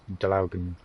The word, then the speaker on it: Draugen: I'm pretty sure if you are Norwegian, that's how you pronounce it, as Draugen.